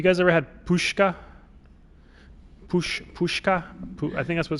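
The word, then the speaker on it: pączki: to load up on uh pushka is spelled like p-z-c-e-s-k-i or something like that um it's essentially a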